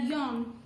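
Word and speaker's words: よん: Nana kalau untuk empat angka 4 di atas 10 itu dibacanya adalah John Jadi kalau 14 adalah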